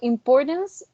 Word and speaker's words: importance: right so importance um if we pronounce it without um without election i would i would pronounce it like importance but then if we try to use solution it would be important importance do you hear the change or